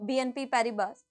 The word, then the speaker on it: BNP Paribas: very frequently you know BNP Paribas is is a French multinational bank so s is silent this is how we pronounce it BNP pariba Okay so